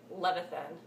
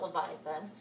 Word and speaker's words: Levithan: was every day by David Levithan that's how you say it thanks John Green for teaching me that David Levithan it's not Leviathan so I really enjoyed